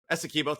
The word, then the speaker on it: Essequibo: I know you're not how to pronounce it. Essequibo, thank you.